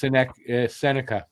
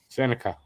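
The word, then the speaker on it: Sennecke: I believe it's Senica. He's Becket Senica. Senica like New York.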